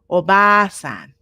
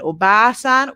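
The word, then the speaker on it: おばあさん: in these uh uh words oisan and obasan without the long vowel they become not grandfather and grandmother they become aunt and uncle so you have to be careful to pronounce the long vowel as two times the length of the regular vowel okay okay so now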